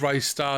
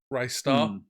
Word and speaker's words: Ristar: So I remember seeing something where someone was saying, how with Ristar as a picture, or Ristar, I believe it's actually pronounced.